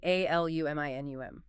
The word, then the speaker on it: aluminum: The sources kind of hinted that saying aluminium with all the syllables can sound a bit formal, maybe slightly posh to Americans. Maybe a little. And aluminum might sound, I don't know, abrupt to a Brit.